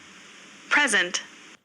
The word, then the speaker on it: present: present, प्रेजेंट. क्या कहा आपने? प्रेजेंट, प्रेजेंट. और यहां पर देखो, present, दोबारा फिर सुनो. present, प्रेजेंट, प्रेजेंट. इसमें बोला गया एज ए वर्ब प्रेजेंट, और एज a noun प्रेजेंट, प्रेजेंट.